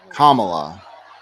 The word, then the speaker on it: Kamala: her name wrong because it's actually kamla not that wouldn't chant